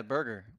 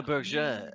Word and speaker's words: Berger: Yeah, burger. Yeah. Burger. Yeah, burger. Is that right? Berger. No. It's pronounced berger, but it's spelled the way he has it in his name. Berger.